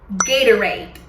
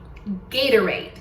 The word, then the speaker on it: Gatorade: Essa bebida você vai provavelmente escutar como Gatorade. Gatorade. O que precisamos fazer para pronunciar essa marca como um norte-americano pronunciaria? Bom, primeira coisa é saber que a tônica tá em gay.